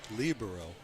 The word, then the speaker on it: libero: a free play around a lot of controversy over how to pronounce it well there's libro on libero but i did a little research and found that it is libro which is how i learned and switch with